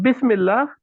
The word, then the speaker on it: Bismillah: So in Bismillah, what we have is bis, ba, in joined together with a kasra. This kasra is is the harakat in this, right? In Yes. pronouncing the two letters together, what works is the kasra. We could have said bus if it was a fatha. We can say bis if it is a kasra.